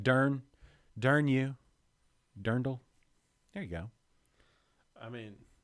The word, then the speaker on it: dirndl: who has a point it's not drendel no it's not like a dremel i have a dremel see it's d-i-r dirndl that's d-i-r but i